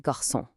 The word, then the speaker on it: garçon: Then you've got that little tail on the C, the série. That just turns a hard C into a soft S sound. Easy, like in garçon.